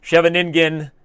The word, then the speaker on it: Scheveningen: when you play e6 this structure is called the show Bennigan's Scheveningen depending on how we want to butcher a non-english name you can butcher at many different ways but Scheveningen is actually the way to do it properly okay you know as